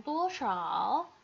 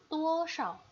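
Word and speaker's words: 多少: Cara bacanya bukan 多少, tetapi 多少.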